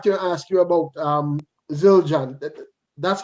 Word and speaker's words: Zildjian: me come back to ask you about um zildjian that's how it's pronounced yeah children yeah yeah i mean i